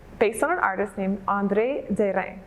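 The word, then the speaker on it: André Derain: on an artist named andre de rein that's the french way to pronounce it i get andre durang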